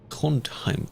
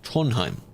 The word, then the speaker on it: Trondheim: Trondheim. Trondheim. Apparently, you don't really pronounce the d in that sound.